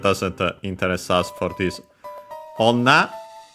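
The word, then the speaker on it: 女: Onna, accented on the last mora, and in this case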